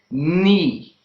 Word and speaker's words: knee: So these are the words in which the letter K is silent.